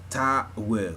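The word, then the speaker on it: ta'wil: That's the symbolic aspect of it, and communicates to you through what the Sufis would call ta-will, if I'm saying it correctly.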